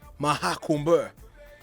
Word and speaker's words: Mahakumbh: How do you pronounce it? Hey, Mahakumbh.